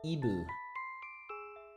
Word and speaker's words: Eve: Her name is Eve, but they don't have a V sound in Japanese, so she is Ibu.